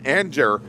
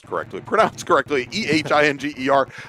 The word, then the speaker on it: Ehinger: And right back behind him, Jason Nikic and Don Anger. And I'll get that pronounced correctly. Ehinger.